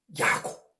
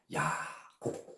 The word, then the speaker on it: 야곱: 히브리어 발음으로는 우리가 구약시대에 알고 있는 야곱. 이게 바로 야고보예요. 히브리어 발음으로는 야곱.